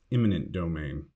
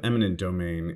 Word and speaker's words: eminent domain: domain to your vocabulary make sure to avoid the common mistake of pronouncing or writing it as imminent domain i am not exactly